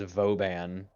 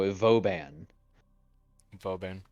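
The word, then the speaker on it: Vauban: convince his name was voban which like that's technically the correct phonetic pronunciation of it because it's a it's a playoff of a French word for Fortress but I don't care it's bobin bobin nice bon no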